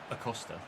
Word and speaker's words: Acosta: I keep calling him Acosta rather than just Acosta. It's Acosta, Ches.